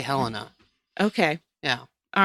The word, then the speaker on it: Helena: see the state capitol, which I've heard pronounced both Helena and Helena. I was going to ask you if you were going to say Helena or Helena. I say Helena.